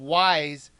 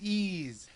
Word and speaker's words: Ys: this game was called ye I do have to comment that even though the game looks like it should be called wise they pronounce it ease this game was originally